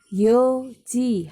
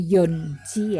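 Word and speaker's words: 四時: Sanji, yoji. Hati-hati untuk jam 4 itu yoji, bukan yonji ya. Meskipun 4 itu yon, tetapi untuk penyebutan jam yoji tanpa n.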